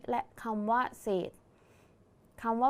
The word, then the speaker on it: เศษ: ไหม คะ ดัง นั้น คำ ว่า เศษ จึง อยู่ ใน มาตรา แม่ กด นั่น เอง นะ คะ เรา มา